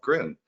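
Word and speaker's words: Grön: Just want to point out real quick, Groon is spelled G-R-O-N with a umlaut over the O. I like to think of that as 2 extra O's up there, and it gives you that oo sound, so it's Groon.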